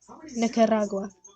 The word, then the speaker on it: Nicaragua: go now they stuck their Invasion into Nicaragua Nicaragua yeah that's how you pronounce it okay so they start their Invasion